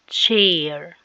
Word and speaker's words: chair: انت عارف ان السي والاتش بيدونا، السي مع الاتش بتدينا تش، السي والاتش بتدينا ايه؟ تش تش اهو سي اتش سي اتش make sound تش تش. عشان كده دي بننطقها chair chair.